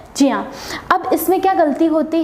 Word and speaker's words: ज्ञ: इया के योग से, तो इसका जो सही प्रोनाउंसिएशन होता है वह होता है ज्या, लेकिन हम इसे ज्ञा बोलते हैं।